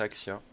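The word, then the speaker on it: Axii: C'est Axie normalement. Bah là c'est Axia qui s'écrit.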